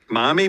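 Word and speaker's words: Mami: Mommy, but it's spelled M-A-M-I. Mammy.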